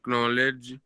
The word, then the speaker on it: knowledge: To acquire knowledge regarding knowledge. K is silent.